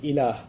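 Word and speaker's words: إله: La ilaha illallah, in which there's the term ilah.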